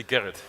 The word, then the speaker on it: Gerrit: Yes, just say Gerrit. Gerrit. If you can't pronounce the G properly. In the Dutch, in the Netherlands, you would say Gerrit. Like you don't say Groningen, but you say Groningen. We have to warm up